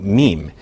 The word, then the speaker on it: meme: So I hope my classicist friends will forgive me if I abbreviate mimeme to meme. It should be pronounced to rhyme with cream."